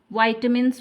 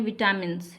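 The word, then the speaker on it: vitamins: का, वेरियस मतलब विभिन्न, वाइटमिन्स मतलब, इसको कैसे प्रोनाउंस करेंगे, ये विटामिन नहीं है, ये है वाइटमिन्स। कुछ लोग क्या करते हैं कि इसको कहते हैं विटामिन्स, ये सही प्रोनाउंसिएशन नहीं है, इसको बोलते हैं वाइटमिन्स।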